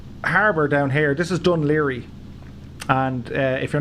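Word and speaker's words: Dún Laoghaire: So this harbour down here, this is Dunleary. And if you're not from Ireland and you see how Dunleary is spelt, it's pronounced Dunleary, not Dunlacahorry.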